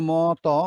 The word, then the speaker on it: মতি: সেরকম যেমন ম ত আমরা লিখছি মতো, আবার এখানে ম ত রস্বইকার মতি লিখছি কিন্তু বলছি মতি।